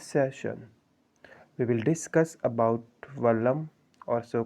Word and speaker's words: Vallam: Now what is Vallam or so called Vollam? The Keralese person pronounced there as Vollam.